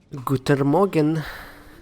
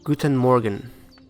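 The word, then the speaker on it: Guten Morgen: it's past Sunrise gut Morgan okay I said it wrong guten Morgan there we go Hallelujah I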